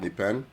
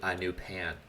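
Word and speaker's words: Nypan: Nipan, I think is the correct Oh, I thought you pronunciation. said new pan.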